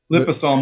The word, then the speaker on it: liposomal: Liposomal or liposomal. Yeah. It's like potato.